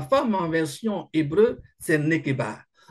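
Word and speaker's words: נקבה: Mais le mot grec qui est utilisé, le mot, pardon, hébreu qui est utilisé, c'est nekeba. Je prononce tout ça en français, nekeba. Donc, nekeba qui veut dire féminin.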